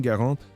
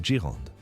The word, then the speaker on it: Garand: Faut-il dire garantur ou girand. La plupart des gens écorchent le nom. Nous utiliserons la prononciation correcte garant.